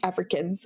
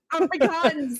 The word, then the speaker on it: Afrikaans: fun of me because I can't speak Africans I can't say it right Afrikaans this is my whole